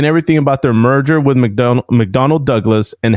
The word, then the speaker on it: McDonnell: McDonald McDonald's is probably with leading the murders anyways. It's McDonnell. I don't know how to say it. It's with an N-N-E-L-L.